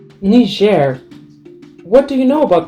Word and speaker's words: Niger: the official language, and the pronunciation of the country's name is Niger, also in English, not Niger, which was quite surprising to me.